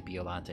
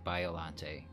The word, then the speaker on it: Biollante: biollante I have to try to say biollante because I consistently say biollante even in my videos and then only after the fact I realized that I said it technically I said it wrong so I'm trying to